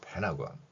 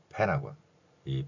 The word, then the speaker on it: Pentagon: 단어가 바로 펜타곤 있니다 그런데 영어의 의문 현상 중에서 n 뒤에가 오면 티가 발음이 나지 않습니다 따라서 펜타곤이 발음보다는 펜하고 이런 발음을 더 자주 접하게 될 것입니다 오각형 모양의 미국 국방부를